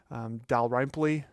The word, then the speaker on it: Dalrymple: He claimed that my last name, which is Scottish, is actually pronounced Dalrymple. I guess I shouldn't be surprised because I've heard my name mispronounced all my life. Dal-RYM-ple, Dalyrimple, Daredevil, Rumpelstiltskin.